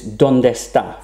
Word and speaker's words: ¿Dónde está?: Now, it's equally fine to pronounce this ¿dónde está? For fluency. ¿Dónde está? Where you would actually drop one of the E's when you pronounce the words.